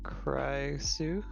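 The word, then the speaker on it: Pixiu: species again who's uh cry Sue I I'll I'm having a hard time with that name too rhymes with licks you it's a fox okay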